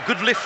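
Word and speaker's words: Goodliffe: The two captains, Jason Goodlife and Kevin Gray, will be, or Goodliff I should say, it's spelt G-O-O-L-I-F-F-E, Jason Goodliff.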